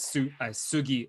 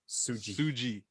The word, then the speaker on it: Sugy: the States for battles, I would get called as Sugi on the mic, and it just doesn't hit as hard as Suji. Yeah, that's how it's supposed to be.